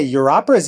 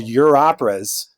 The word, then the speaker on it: Europeras: made this thing called Europeras, which is spelled e u r o. So, it's a pun like your operas, right?